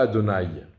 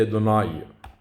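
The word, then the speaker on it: אֲדֹנָי: lire, selon le Midrash, on ne dit pas Adonai, on dit Adonai. On prononce le kamatz comme un A accent circonflexe, et ça veut dire Akadosh Baruch Hu.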